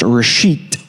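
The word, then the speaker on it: ראשית: The first word is pronounced reshit.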